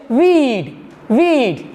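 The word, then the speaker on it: we'd: So the correct pronunciation of we would is weed. What is the correct pronunciation? Weed, not we would.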